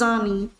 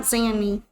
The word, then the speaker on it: Zani: I should say her name is Zani, not Zanny.